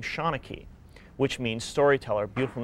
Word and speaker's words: Seanachie: Well, if you look at the way it's spelled as opposed to the way it's said, the two don't mesh up.